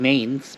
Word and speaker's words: Mainz: It's spelled Mainz, but it's pronounced Mainz.